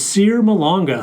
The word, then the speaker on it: Cyr Malonga: Our next guest is Cyr Malonga. Cyr is a 6'11" center. He is from Pointe Noire, Congo. Did I pronounce that right?